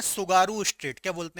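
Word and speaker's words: Tsugaru: सुगारू straight आपको याद रखना है ना, इसको ऐसे लिखते हैं, टी साइलेंट रहता है, सुगारू, ठीक है, सुगारू स्ट्रेट आपको याद रखना है, ठीक है।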